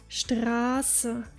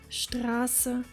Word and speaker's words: Straße: In Germany, you will frequently come across the word Straße, which translates to street, spelled with double S, even though we clearly hear a long A. Listen again. Straße, Straße.